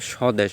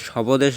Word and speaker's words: স্বদেশ: ব উচ্চারণটা হবে না একইভাবে স্বদেশ আমরা কি সবদেশ বলি না আমরা বলি স্বদেশ আর এখানে একটা হিন্ট